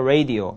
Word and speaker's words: radio: I was listening to the radio. radio, 예, 라디오. radio. 발음 입을 잘 보세요. radio, radio. 혓바닥이 입천장에 닿지 않습니다.